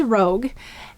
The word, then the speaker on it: rogue: Let's sound it out together. R-O-G, silent final E. This is rogue.